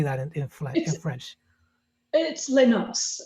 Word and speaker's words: Les Noces: It's Les Noces. Les Noces, right.